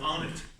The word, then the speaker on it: Arnott: So my great pleasure to welcome you all tonight, and welcome our featured writer tonight, Arnott, which I'm told rhymes with Darnett.